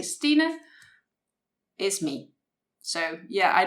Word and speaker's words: Stine: actually deviates from christine so instead of saying my name is christine which it's not um you just say steeda which is the last part of christina and yeah just remove the cree so s-t-i-n-e would be my given name so